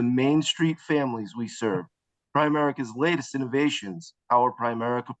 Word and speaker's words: Primerica: by the way y'all the proper pronunciation even those of you in the south is not prime America it's Prim America Prim America thank you